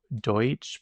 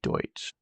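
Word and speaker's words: Deutch: Do Deutsch. Pronounced exactly like the word I don't know how to spell. Oh, okay. I was right. So, you pronounce it like D O Y T C. Zoe Deutsch.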